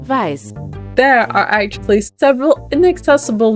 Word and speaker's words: Weiß: And now since it's German for white, is it supposed to be pronounced like this? Weiß. Weiß.